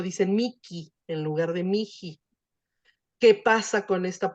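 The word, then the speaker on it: mihi: este caso, aspirada de esa H, cuando está entre 2 vocales, generalmente se hace esa aspiración para que no sea tan difícil pronunciar el mi o miji.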